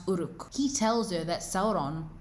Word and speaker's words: Uruk: Adar corrects her and says that its pronounced Uruk.